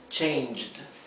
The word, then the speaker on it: changed: Por lo tanto, el pasado, en este caso que hay una E muda en el verbo en infinitivo, queda así, changed, ¿sí?